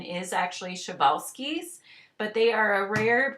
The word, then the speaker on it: Przewalski's: so take a look at this name is chevalsky even though it's spelled p r z e some people call them p horses some of them do say przwalski's horse the correct pronunciation is actually chevalski's but they are a rare breed of horse